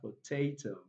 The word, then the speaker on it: potato: Words that ends with o do not take their primary stress on the last syllable. Okay, it often takes the primary stress on the second to the last.